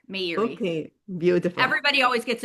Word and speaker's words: Meiri: Uh, it's Meiri. May like the Meiri. month, Erie like the lake. Meiri.